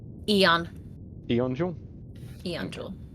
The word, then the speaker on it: Aeon: Eon.